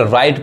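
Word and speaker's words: write: तो देखिए W letter कहाँ साइलेंट होता है, जब भी डब्ल्यू के बाद आर आए तब डब्ल्यू साइलेंट होता है। यानी कोई वर्ड है अगर डब्ल्यू के पास हमको आर दिखाई दे रहा है, समझ में आ रहा है, तो वहां पे हमारा डब्ल्यू क्या होता है, साइलेंट होता है, डब्ल्यू नहीं पढ़ाता है, यानी डब्ल्यू नहीं पढ़ाएगा। क्या पढ़ाएगा, देखिए इसको डब्ल्यू आर आई टी, क्या पढ़ेंगे, राइट पढ़ेंगे, राइट यानी इसका मतलब क्या होता है, लिखना।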